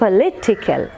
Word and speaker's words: political: സോ ഇറ്റ് ഈസ് പൊളിറ്റിക്കൽ. Lit is given more stress than the other syllables.